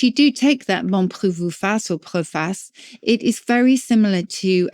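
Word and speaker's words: proface: the Middle Ages we would sometimes say proas p r o f a c but it's spelled like proace not a particularly nice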